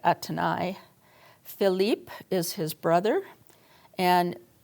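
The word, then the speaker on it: Athénaïs: Um his mistress um I pronounce it Athan, but in French it would be more like Atani.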